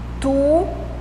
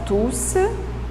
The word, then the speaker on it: tous: ici attention la prononciation on ne prononce pas le s final de tous conçu les adjectifs tous les habitants sont compliquées